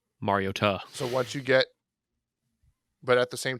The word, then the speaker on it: Mariota: He was a Mariota guy, even though he likes to say it's Mariota, but we all know which one it is. Mariota. That is how you pronounce it. Just saying. Mariota.